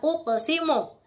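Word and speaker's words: أُقْسِمُ: La uqsimu. Nah, uqsimu itu huruf qafnya sukun. Huruf kolkolahnya qaf berharokat sukun, maka dibacanya memantul kecil.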